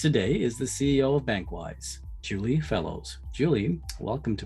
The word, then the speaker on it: BankWyse: For the listeners on this PANGEA Talks episode, BankWyse provides, and that's BankWyse, I'll spell it because it's spelled in a very unique way, BankWyse.